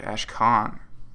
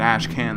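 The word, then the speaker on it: Ashkhan: Ash Khan. I've been pronouncing it Ashan this whole time, so it's going to be hard to change it up.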